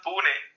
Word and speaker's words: Pune: And also, Raj, I need you to correct me on the pronunciation of your hometown, because I think I pronounced it as Pune, but I think I heard you say something different. It's a Pune. Pune, okay. It's Pune.